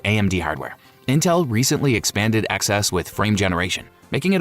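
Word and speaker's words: XeSS: Intel's XS pronounced XS uses AI via Intel's XMX matrix units to upscale from lower resolutions.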